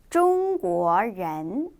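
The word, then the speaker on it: 中国人: 이렇게 해서 중국인은 中国人 이라고 발음해 주시면 돼요. 전혀 어렵지 않죠? 자, 같이 따라서 다시 볼게요. 我 나는 不是 아닙니다. 中国人 중국인이 우리 아까는 나는 누구입니다 라는 표현을 배웠다면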